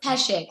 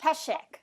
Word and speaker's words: Peszek: It's Peszek, like with an SH. Peszek. Okay. Peszek, even though there's a Z.